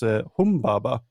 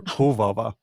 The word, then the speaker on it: Humbaba: this thing is called, because he gets the name wrong. It's Humbaba or Huvava.